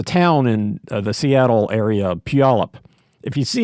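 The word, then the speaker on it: Puyallup: uh there's a town in the Seattle area, Palip. If you see how it's spelled, you'll never pronounce it correctly. Uh you you have to you have to look away and then know it's Palip.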